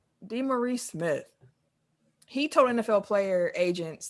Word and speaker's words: DeMaurice Smith: DeMaurice Smith.